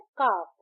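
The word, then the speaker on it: calf: हाफ एच ए F similarly काफ सी ए एल एफ काफ। बट यहां L silent है। हम कालक नहीं कहते। हम कहते हैं काफ।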